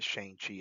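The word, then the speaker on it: Shang-Chi: Yes, I pronounce it Shangchi as it should be.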